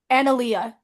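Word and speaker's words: Analeia: Victor and then give me a second and I can tell you how to pronounce the other one. Okay. A N A L E I A. Analia. Analyia.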